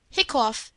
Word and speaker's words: hiccough: Hiccough has the sound of cup.